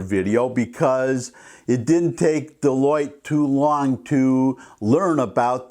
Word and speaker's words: Deloitte: the way I know it looks like it's spelled della wit or some kind of French name I used to work for the American Institute of Certified Public Accountants trust me it's pronounced Deloitte anyways she started her